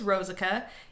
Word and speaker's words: Rosica: this the whole video say jessica jessica then say rose instead of jess rosica that's how you get